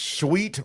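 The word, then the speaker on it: Suite: And it's sweet 106bakery. Sweet is spelled s ui t e for those who are just listening and not watching.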